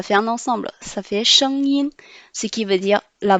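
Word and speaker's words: 声音: SH prononce sh, sh. ENG prononce en, le premier ton.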